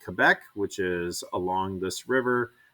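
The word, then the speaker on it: Québec: we would pronounce it quebec but they can pronounce it quebec because they are french and um that is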